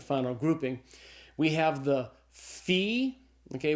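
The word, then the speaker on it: phi: We have the fee. Okay. It's the ph sound like in the English word phone. So the fe is a f sound f sound.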